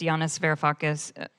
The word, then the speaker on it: Yanis Varoufakis: It's Yanis Varoufakis.